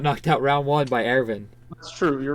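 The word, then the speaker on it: Erwin: Faye Valentine easiest it's it's airfin Ervin yeah yeah it's Ervin it's Aaron Faye's a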